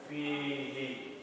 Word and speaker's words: فيه: So anytime you have a ya before he, before the ha, anytime you have a ya before the ha, it becomes, it takes on the he.